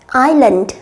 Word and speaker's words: island: Câu B, chúng ta chú ý một điều đó là cái âm tss, các em tuyệt đối không được phát âm bởi vì nó là silent sound, nó là âm câm, đúng nhỉ? Do đó chúng ta sẽ đọc là island, island.